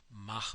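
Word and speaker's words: Mach: referred to as the M number and it's pronounced ma because he was Austrian and that means now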